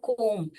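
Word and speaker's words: comb: एक बनाना हो तो उसको कोम ब ब साइलेंट होता है कोम कोम ऑफ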